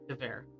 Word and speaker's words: Gewehr: Gewehr. I don't know why I did that. Butchered it. Pronounce the W as a V.